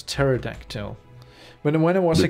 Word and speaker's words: pterodactyl: pterodactyl tear reduction yeah you don't say the P it's the P is silent so it's pterodactyl but when I was